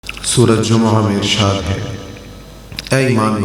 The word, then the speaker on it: جمعہ: ہم جمعہ کہتے ہیں، جمعہ یعنی جیم پر پیش بولتے ہیں، میم پر زبر بولتے ہیں، اور پھر اس کے بعد ہا کی آواز نکالتے ہیں، جمعہ۔ تو اس کا تلفظ کیا ہے؟